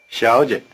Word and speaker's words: 小姐: 小姐 In this word, both syllables begin with the tongue in the forward position, the so-called palatal position.